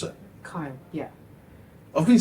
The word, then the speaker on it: Keil: No, it's Kyle. Yeah. Is it because it's German?